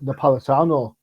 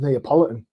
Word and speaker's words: Napolitano: It took me 3 months to say Tom Napolitano correctly. It always comes out as Neapolitan. Like the ice cream flavor.